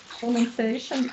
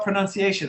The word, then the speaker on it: pronunciation: How do we spell pronunciation? I'm going to put this in the chat. Pronunciation. Pronunciation. And then that last syllable spelled Tion sounds like shun.